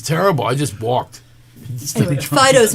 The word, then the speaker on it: Fido: Anyway, Fido's name is spelled correctly for the French pronunciation, and it is Fido.